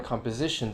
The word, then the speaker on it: composition: code codify compose composition so there on composition the stress shifts over from composed composition composition microscope microscopic stress